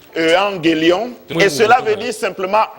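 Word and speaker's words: εὐαγγέλιον: L'évangile vient d'un mot latin, évangélium, qui est ce mot latin est tiré du grec ancien, qui se prononce evangélion, et cela veut dire simplement bonne nouvelle.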